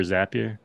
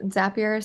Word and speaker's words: Zapier: one we've always yeah I've heard it pronounced different times every time everybody says it well if it makes sense if it's zappier because you make zaps right right I've heard